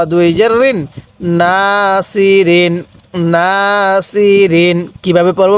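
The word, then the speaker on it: ناصرين: জবর না সদ জের সি র দুই জেরিন নাসিরিন নাসিরিন কিভাবে পড়বো বা কিভাবে পড়বো নাসিরিন হ্যাঁ আরেকবার পড়ুন নাসিরিন এটা অনেকেই সিন উচ্চারণ করি না এটা সৎ উচ্চারণ করব তাহলে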